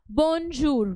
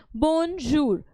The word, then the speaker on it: bonjour: French today let's start the first one is bonjour which means hello or good morning repeat the pronunciation after me to Ace it okay bonjur which means hello or good morning the next